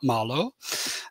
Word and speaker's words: Malå: big orange marlo or for our friends in in sweden and scandinavia i should be pronouncing that marlo um but but this